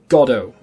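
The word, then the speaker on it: Godot: want to call it I call it godo because there is a play called waiting for godo and it's spelled exactly the same so I feel like that's how it should be said anyway the reason I've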